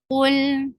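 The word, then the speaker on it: قُلْ: Qul, فضم circle your lips. This is a heavy letter.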